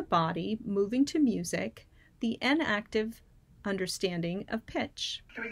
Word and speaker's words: enactive: Not inactive, as in you're not active, but enactive, meaning muscle memory, or through action and movement.